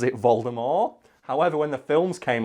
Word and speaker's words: Voldemort: if Brad can find a clip maybe he pronounces it vulgar more however when the films came around she realized oh man Americans aren't going to get this so she changed it to Voldemort and that's the same reason why in America